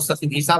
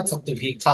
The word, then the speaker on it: शतभिषा: क्या आप लोग शतभिषा बोलते होंगे, लेकिन शुद्ध उच्चारण है इसका शतभिखा होगा। ठीक है।